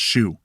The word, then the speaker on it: SHU: the special housing unit Shu pronounced shoe for assaulting another prisoner